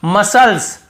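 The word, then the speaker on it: muscles: ऐसे नहीं पढ़ते हैं यहां पर भी देखिए मसल्स मसल्स मसल्स यहां पे मसल्स नहीं पढ़ रहे हैं यहां पर भी साइलेंट है फिर देखिए यहां पर भी है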